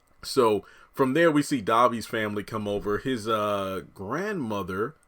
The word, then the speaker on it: Davi: I'm like, well, his grandmother is Italian, so I guess Davi is the correct pronunciation, D-A-V-I. Davy or Davi, I'm going to do my best to say Davi.